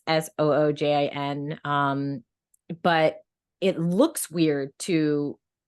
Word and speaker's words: Sujin: My Korean name is just Sujin, which is phonetically readable, like it's just Soojin.